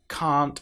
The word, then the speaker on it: can't: If this is pronounced incorrectly, it sounds very much like can.